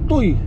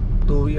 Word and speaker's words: Tuy: Pero kung babasahin mo toy, na naman tayo sa toy na yan eh. Putotoy. Ayan. Hindi mga kalyabi tuwi yan. Tuy ang pagka-pronounce diyan.